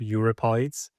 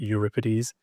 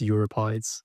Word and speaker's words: Euripides: And the guy on the right, Euripides. Before I knew the correct pronunciation, I thought his name was pronounced Euripides.